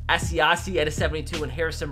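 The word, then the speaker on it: Asiasi: and tied and we have Cole commit and a 74 log s is how you say his name Devon SE hace at a 72 and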